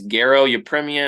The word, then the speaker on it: Garo Yepremian: And yeah, it's Garo Yepremian, actually a pretty good career as a kicker.